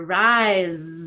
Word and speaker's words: rise: But rise, oh, that's vibrating. I need more effort in the vowel.